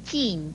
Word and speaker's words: 禁: 由于禁这个字有禁和金两个读音，所以要特别提醒您，念鸡印禁四声禁是制止